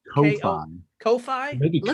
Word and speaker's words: Ko-fi: Also, I am being reminded in real time in the Twitch chat window that we also have, is it pronounced coffee? That site? it's Ko-Fi.